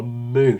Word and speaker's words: Mun: Jeb and Bill have landed on the moon. Somebody told me it's pronounced moon. I do speak German. The umlaut on the U is like, yeah, fair enough. But I mean, I'm still going to say mun.